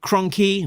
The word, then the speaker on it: Cronky: GI Joe A Real American Hero issue 327 brought to us by the team of writer Larry Hama artist Andrew Cronky, rhymes with donkey, colorist Francesco Segala with Sabrina Del Grosso, letterer Pat Brosseau, editor Alex Antone, rhymes with phone assistant editor Caitlin Chappell.